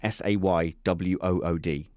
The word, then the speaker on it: Saward: name should be yeah you pronounce your own name wrong but we won't get into that I literally have to write down s-a-y-w-o-o-d to overcome how you say your name wrong name wrong Joe saywood right here